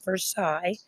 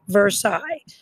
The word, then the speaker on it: Versailles: That's how you pronounce it, Versailles. Like a sigh, Versailles.